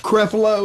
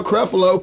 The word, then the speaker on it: Creflo: I believe his first name is pronounced Creflo.